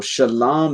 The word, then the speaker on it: shalom: not letters right so shalom is actually the the correct way to pronounce it there's the shah which is the sh then the la the l and then the ma which is the m which you can look